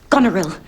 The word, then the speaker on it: Goneril: uh the point is that mary's character is pronounced goneril well you do know the play mr steele